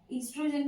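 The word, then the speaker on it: estrogen: नाउ ईस्ट्रोजन में ओ जो होता है वो साइलेंट होता है.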